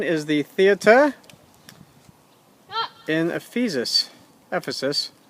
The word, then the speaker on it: Ephesus: the theater in Ephesus Ephesus I should say pronouncing it relatively correctly absolutely huge is thought